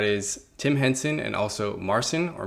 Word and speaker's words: Marcin: And that is Tim Henson and also Marcin, or Marcin, I believe is how you say his name because he's Polish.